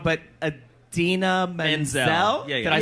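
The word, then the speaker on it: Idina Menzel: I always get the name wrong, but Adina Menzel. Yeah, yeah. Did I say it right? Adele Adele Dazeem, Dazeem.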